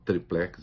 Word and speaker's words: triplex: o apartamento tal do Tríplex do Guarujá, eu prefiro triplex, as duas pronúncias são aceitas, ele não via ligação entre o triplex e os contratos da OAS com a Petrobras.